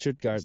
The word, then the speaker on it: Stuttgart: 3-1 against Stuttgart. Is that how you say it? Stuttgart, yep. Stuttgart. You're the resident European, so you have the pronunciations down.